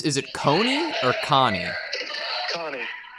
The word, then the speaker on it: Connie: had a question on how how do you pronounce is it coney or connie connie and gene uh jean jean okay john and